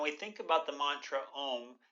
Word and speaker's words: om: about the Mantra om there are actually three syllables to the Mantra there is the first syllable the ah portion to the second syllable the O portion and then the third part the um and technically there is